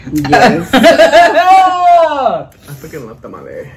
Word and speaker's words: tamal: Oh, I freaking love tamale. How do you pronounce it, tamale or tamale? Tamal. Tamal. Tu tamale.